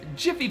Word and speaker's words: Jif: Jif peanut butter. The leading peanut butter in the United States since 1981, Jif peanut butter is a very popular snack, but an alternate memory recalling it as Jiffy peanut butter is widespread.